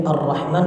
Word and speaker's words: الرحمن: Kemudian di Ar-Rahman Ar-Rahim huruf ra-nya takrirnya jangan terlalu banyak, secukupnya aja.